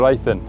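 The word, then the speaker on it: Ythan: The Ifan estuary is pretty class. The River Ifan, just in case you were wondering how to say it.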